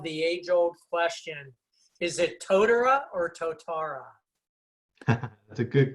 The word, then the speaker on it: Totara: Is it Totara or Totara? That's a good question. You got to say it with a Kiwi accent, really. So it's Totara is the normal way of saying it, but there was an